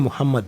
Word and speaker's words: Muhammad: And I'm saying Muhammad because ideally that's how it's supposed to be pronounced.